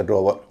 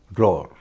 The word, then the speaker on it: drawer: इसका उच्चारण न तो ड्रावर है न ड्रॉअर है, इसका उच्चारण है ड्रॉअर। यानी इसमें न तो व का उच्चारण होगा न अ का उच्चारण होगा, ड्रॉअर।